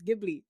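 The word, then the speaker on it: Ghibli: heard somebody else said no it's gibli I said oh true so I will not be apologizing I will just admit that I was wrong nice at least miss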